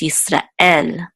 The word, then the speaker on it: Israel: to n it's not in English we accent the first so we say Israel but in Hebrew it's Easter L there's also a guttural